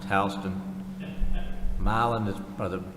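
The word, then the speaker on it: Houston: one quick in in Georgia h HST is pronounced Halston milin is brother Milan is pronounced milin and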